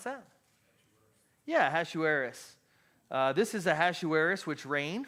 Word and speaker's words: Ahasuerus: Now it came to pass in the days of, anybody want to guess how you pronounce that? Yeah, Ahasuerus.